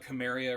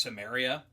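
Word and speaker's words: Cimmeria: Uh you said Conan of Chamaria or something like that. And it's I believe it's pronounced Samaria.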